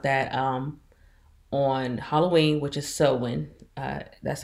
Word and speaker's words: Samhain: and find out that on Halloween, which is Samhain, that's how it's pronounced in the book.